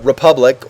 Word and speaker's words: République: There's a game coming soon, like in 2, maybe 3 months, called Republique, or it's spelled like République, like the French.